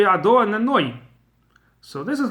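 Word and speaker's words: אדני: So you cannot pronounce Ado then Nai. That sounds like my masters. That doesn't sound like divine name at all. It has to be Ado and then Noi.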